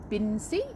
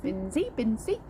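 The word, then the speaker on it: Binsey: um we are in bin c i never know how to pronounce it binsy um and we are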